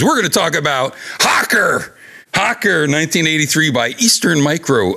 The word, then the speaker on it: Hoccer: something happens there that's magic I brought up Hawker and it's spelled hoc CER I brought up Hawker during